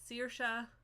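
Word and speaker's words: Saoirse: that is how you pronounce that it's sirsha ronan dj sibling her name is sirsha um so and that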